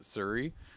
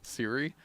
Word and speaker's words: Siri: Oh, because I got corrected today by somebody who was really annoyed with me because I pronounced it Suri instead of Siri.